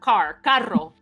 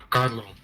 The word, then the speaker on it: carro: Carlo. So I pronounce it like with the L. Yeah, you're right. Hey, it's okay. You know, my fiance's from Puerto Rico. They exchanged that R for that L.